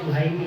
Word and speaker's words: Suhaimi: Itu sebenarnya Suhaimi ya Ustaz ya. Karena di Jawa ada kapnya, jadi Suhaimi bacanya. Benar ya? Aslinya Suhaimi ya.